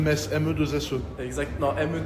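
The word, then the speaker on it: Metz: On dit on dit mess ou M mess comme une messe.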